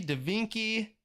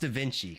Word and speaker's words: Da Vinci: Da Kinky, Da Vinci, Da Binky.